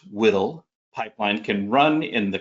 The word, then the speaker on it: WDL: This workflow description language, or WDL, pronounced WDL, pipeline can run in the cloud on AWS, Azure, and GCP, as well as on high-performance computing, or HPC, environments.